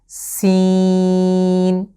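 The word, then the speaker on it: س: সিন, এই যা এবং সিন এই দুটো লেটারের মাখরাজ কিংবা উচ্চারণের স্থান একরকম, একই জায়গা থেকে দুটো লেটার উচ্চারিত হবে।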